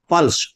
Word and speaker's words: प्लस: यहां अगर ऊपर वाले को हम पढ़ेंगे तो बलाघात जो है वो लय के ऊपर रहेगा, तब इसका शुद्ध उच्चारण होगा। इसे कहेंगे प्लस, प्लस यानी ल, ल लंबा जाएगा, और लंबा जाएगा तो इसका मतलब लय के ऊपर बलाघात है।